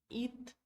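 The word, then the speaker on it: идти: it it mas essa essa som de letra D não vai aparecer D não nós nunca vamos falar e de ti fica muito puxado pra garganta vai ficar muito difícil de pronunciar tá então falamos it tá igual it de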